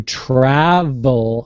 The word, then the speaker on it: travel: now that sounds good the lip has to be under the front teeth and you release it travel travel right right